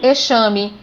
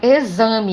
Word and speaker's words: exame: A palavra exame, eu também não pronuncio exame, eu falo exame. Então, o X com o som de Z.